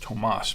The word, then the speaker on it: Tomas: His name's actually pronounced Tomas, but Sometimes we say Thomas, sometimes we say Tommy, sometimes Tom.